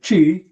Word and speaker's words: ji: next posture which is chi which is spelled ji which is corresponds to